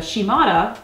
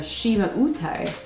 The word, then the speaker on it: Shimauta: talk about um so the shimada it this is our own pronunciation of the label and what i found was the shima utai the is the pronunciation of the kanji they printed on the box so what do we